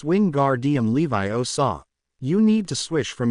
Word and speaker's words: Wingardium Leviosa: down by the rist Ron you're saying it wrong she snapped and you're going to put someone's eye out like mine it's Wing gar DM Levi oaw you need to swish